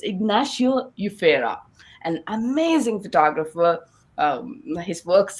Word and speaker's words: Ignacio Yufera: fact i was struggling to understand how to pronounce our guest name today so it's ignacio ufera an amazing photographer his works has been published